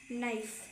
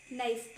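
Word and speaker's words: knife: उसको बोलते हैं नाइफ। नाइफ। बट उसकी ना जो स्पेलिंग होती है वो के से स्टार्ट होती है बिकॉज़ के एन आई एफ क्योंकि जो के होता है ना वो साइलेंट है आगे आपका होता है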